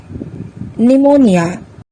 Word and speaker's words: pneumonia: the words are receipt psychology psycho cupboard psychiatrist pneumonia let's find out some other words where S is silent আহাচোন আমি এতিয়া Sৰ উচ্চাৰণ কতনো উজ্জ